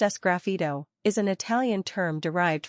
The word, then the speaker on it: sgraffito: video we cover the following topics scfo pronounced as grafo is an Italian term derived from the word